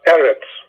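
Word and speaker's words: ארץ: on the first syllable hebrew words are normally accented on the last syllable when it comes to cigalette bounds they are accented the stress is in the first syllable so it's sadaq it is eretz it is these are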